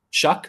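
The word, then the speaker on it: Shough: And then Tyler, how do you pronounce his last name? The New Orleans guy. Shuck. Huh? Shuck.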